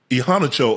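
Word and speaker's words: Iheanacho: Ihanacho, Ocho. That's how you say it? Yeah, Max Ihanacho. Okay. Ihanacho. Chore, like a chore.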